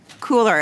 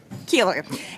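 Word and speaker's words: Koehler: From Global Athlete, we have Rob Cooler, and Cooler is the way I say it properly? Keeler.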